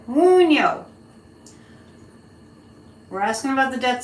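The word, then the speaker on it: Wunjo: It's pronounced Woon-jo. No, Woon-yo. Woon-yo.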